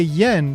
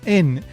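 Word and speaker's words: 円: So, in English, we say yen, but actually, in Japanese, it's pronounced en.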